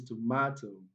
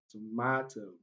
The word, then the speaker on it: tomato: Another example is tomato, tomato.